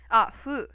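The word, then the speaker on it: ふ: 'Cause hu is already like super similar sounding, so fu is like the same sound, but like actually pronounced, like fu.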